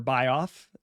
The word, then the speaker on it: Bioff: Willie Bioff, or Bioff, as it's pronounced, was a Jewish mobster